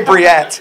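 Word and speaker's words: Bríet: I say Priet. Spell it. -I-E-T. But like I with apostrophe. Priet. It's like Priet.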